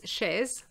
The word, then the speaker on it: chaise: In fact, if we pronounce the Z, it becomes chaise, and chaise means a chair.